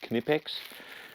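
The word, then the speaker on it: Knipex: on for canipex tools yes it is pronounced canipex and this week we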